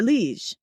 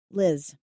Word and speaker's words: Liz: You are Lee. It's a short eye actually, Liz.